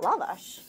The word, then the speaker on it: lavash: i i should say i've now said it lavish enough times and we did a book talk in l.a and they said can you please tell people to pronounce it lavash and i said you know we just want